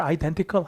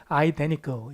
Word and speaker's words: identical: N 다음에 T 발음을 잘 안 해요. 누가? 미국 사람들. 그래서 발음을 identical 하셔도 되지만 뭐라고도 많이 한다? identical 이렇게도 많이 씁니다. 똑같은.